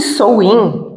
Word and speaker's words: Samhain: Então, esse Samhain se escreve Samhain, se alguém quiser pesquisar.